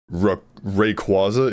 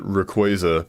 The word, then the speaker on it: Rayquaza: But I uh like I I've always said it Rayquaza because it sounds way cooler. Sounds like a quazar.